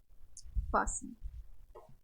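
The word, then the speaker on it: fasten: चलिए silent T वाले words देखते हैं हम। क्या है ये हमारा? Wrestle, लिसन, कैसल, फासन, फासन।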